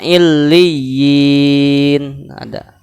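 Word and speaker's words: عليين: Allah berfirman, kalla inna kitabal abrari lafi illiyin. Ada kata illiyin. Nah, contoh illiyin, illiyina, ya yang pertama berharokat kasroh dan bertasdid. Ya yang kedua mati.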